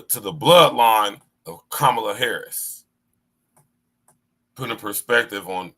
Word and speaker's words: Kamala: let me tell y'all her name isn't Kamala it's kamla you pronounce her name kamla not Kamala not Cela kamla she's not black she's